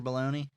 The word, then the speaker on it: Baloney: It's baloney, not the way real baloney is spelled.